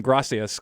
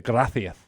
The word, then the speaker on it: gracias: Because instead of saying gracias, as many South Americans and Central Americans say, they say gracias.